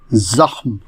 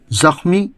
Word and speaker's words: زخم: بہت عام لفظ ہے، زخم، جو درست ہے مستعمل زخم ہے، جو غلط ہے۔ اس کے معنی ہیں گھاؤ، ناسور، نقصان، ضرر۔ اس کے مرکبات بھی ہیں، زخم کاری یعنی بہت مہلک گھاؤ، زخمی یعنی گھائل، زخم اچھا